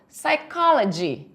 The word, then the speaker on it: psychology: não sai a palavra psychology. Perceba que esse P aqui eu não vou falar, ele é mudo. Silent P, ele é um P silencioso, então eu falo psychology.